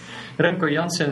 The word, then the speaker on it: Remco Janssen: Yes, well, you pronounce it perfectly for an American. Usually, you always fuck up my name. So, Remco Janssen, it means something like Rambo Johnson if you translate it to American.